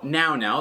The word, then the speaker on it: Nao Now: hear me clearly so now now that's spelled n a o n o w just to confuse you they are a company